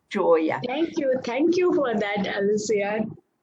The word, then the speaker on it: Joya: We pronounce it as Joya. Joya, okay. You know, Joya in Spanish means jewel. And so I want to pronounce it Joya because of that, but it's Joya.